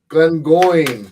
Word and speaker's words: Glengoyne: Glengoyne.